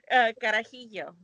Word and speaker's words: carajillo: Oh my gosh, I can't pronounce it. Carajillo.